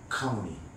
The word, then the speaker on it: 샤카무니: 그럼 원래 한자로 음력하고 석가모니지만은 원래 산스크리트 원래 언어는 샤카무니. 그러면 아까 얘기했죠? 종자에 싹 더하기 어무이 그걸 붙여서 발음해봐요. 샤카무니. 그죠?